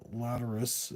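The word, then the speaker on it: Lateralus: Laterus is how you pronounce that one.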